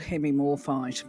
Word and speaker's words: Hemimorphite: you've seen on the thumbnail, hopefully, it's called Hemimorphite, is how you pronounce it.